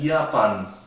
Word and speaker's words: Japan: En Japón, dice que acá se escribe igual que el inglés, pero se pronuncia Japan.